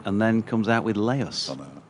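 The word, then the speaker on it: Leus: That's because a double E in Dutch is pronounced lay, so it's A. There's only one E in his name.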